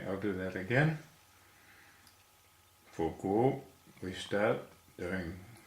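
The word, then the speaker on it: guó: Our next character is Guo. Pinyin is G-U-O, and this is second tone, which is a rising tone.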